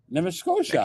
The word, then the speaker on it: Nova Scotia: Nova Scotia. Okay. Now, how do you pronounce it?